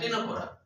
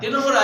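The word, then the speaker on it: Ctenophora: টেনোফোরা, হ্যাঁ, সি টি এ হবে, সি টি টেনোফোরা, হ্যাঁ, না টেনোফোরা ওই সি উচ্চারণ হয় না, টেনোফোরা এটা অন্য বই আছে, কাজে এটা মনে রাখতে হবে।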